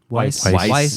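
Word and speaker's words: Weisz: it's the one with Jude Law and Rachel whis is that how you say it whis Weiss sorry Rachel Weiss uh Ed Harris um these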